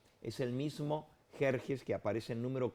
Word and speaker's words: Jerjes: mexicano no es cierto donde méxico se escribe con x pero se pronuncia con jota de igual manera en